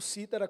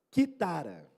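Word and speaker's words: κιθάρα: Quando você lê a palavra no grego, na verdade não tá escrito cítara, como a gente pronuncia hoje, tá escrito quitara.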